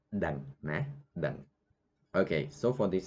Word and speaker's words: ដឹង: That in Khmer you say dang. Dang. You see that phonetic I write O-E. Some students they pronounce doang. Doang. So not correct. Only one sound. So it is dang.